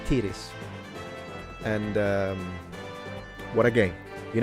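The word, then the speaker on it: Tyris: I always pronounce it Tyrus. I think I was wrong. I think it's Tiris.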